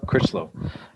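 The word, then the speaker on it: Crichlow: Critchlow? Critchlow.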